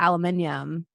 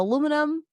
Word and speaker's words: aluminium: original pronunciation and now I default to aluminium and sometimes they'll be like oh aluminum aluminum can but it's hard for me